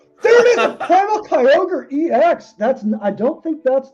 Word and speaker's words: Kyogre: Is that how you pronounce Primal it? Kyogre?